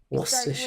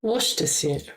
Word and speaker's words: Worcestershire: Worcestershire. Start with a W sound, a W sound. Worcestershire.